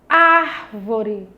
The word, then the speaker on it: árvore: Árvore. Olha só a palavra árvore. Árvore. Bem fácil de identificar que a sílaba ar eu pronunciei com mais intensidade, então essa é a nossa sílaba tônica.